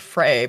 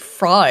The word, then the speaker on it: Frey: Yub to you too, Jacob Fry. Frey, whatever. It's Jacob Frey, but he said Fry in his own previous video, which I thought was weird.